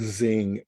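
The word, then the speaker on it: Zheng: I pronounce it Zing, not to be flippant, but it's Z-H-E-N-G.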